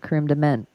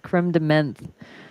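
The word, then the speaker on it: crème de menthe: National Double Cheeseburger um no it's not cre de mint no no it's creeme de mint like it's like spelled like uh menth right yeah crem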